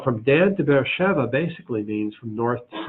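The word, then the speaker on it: Be'er Sheva: Dan to bear chef maybe you say Beersheba it's pronounced bear Sheva that air Sheva and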